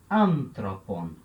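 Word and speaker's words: ἄνθρωπον: Então eu conto as sílabas, né? Aqui eu tenho uma sílaba, aqui eu tenho outra sílaba e aqui eu tenho outra sílaba. 1, 2, 3. Então o acento pode ficar aqui.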